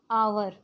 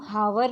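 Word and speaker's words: hour: इसी तरह आवर. आवर को हम हावर नहीं पढ़ते हैं, ह साइलेंट है, तो इसीलिए उसके साथ एन आएगा.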